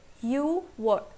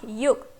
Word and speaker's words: 유월: Now you'll think that in Korean 6 is yuk, right? Here kyok will also come. But because it is difficult to pronounce that way, so what Koreans did is they removed kyok from here and we are left with yuwol. Okay? So June is yuwol. Remember this thing, it's not yuk, it's you.